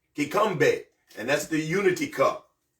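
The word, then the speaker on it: kikombe: k k i k o m b e kbe and that's the unity cup so then we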